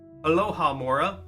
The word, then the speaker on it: Alohomora: Aloha Mora. That's how you say it.